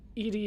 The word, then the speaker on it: EDI: Why are you named Edie? EDI is the phonetic pronunciation of EDI. That is an acronym for Enhanced Defense Intelligence. Where are your location? Edie is everywhere.